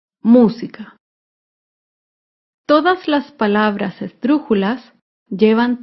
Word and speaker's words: música: antepenúltima sílaba por ejemplo la palabra música música se acentúa en la antepenúltima sílaba música todas las palabras estrujulas